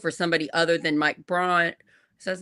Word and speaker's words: Braun: they could vote for somebody other than Mike Braun. Is that his name, Mike? Am I saying it right? Yeah. For Mike Braun, so that we could get a less scary